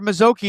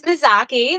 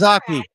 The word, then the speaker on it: Mazzocchi: Let's bring in um Mazoki. Am I pronouncing that right or did I forget already? It's Mazaki. That's Mazaki.